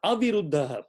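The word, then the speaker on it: अविरुद्ध: So viruddha, aviruddha. Please be very careful. Long vowels.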